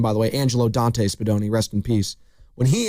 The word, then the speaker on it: Spadoni: Great name, by the way, Angelo Dante Spadoni, rest in peace. When he immigrated to the States, they spelt his name wrong. They said Spandoni, Spandoni, which was incorrect.